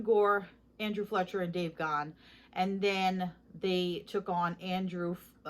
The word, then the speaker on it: Gahan: I cannot stand when people mispronounce his name. It's not Gahan, it's not Gan, it's Gahan.